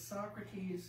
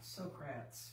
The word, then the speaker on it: Socrates: student and okay and the word is socrates not socrats folks you know that's some